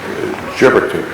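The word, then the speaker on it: Gebirtig: I think I'm pronouncing that. Gerbertik, I think.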